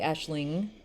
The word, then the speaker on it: Aisling: And so anyway, Aisling Kennedy, and I did say Aisling, if you didn't hear the angma, Aisling Kennedy, Yvonne Hughes, Clodagh Kelly, and Clodagh is spelled with a GH at the end.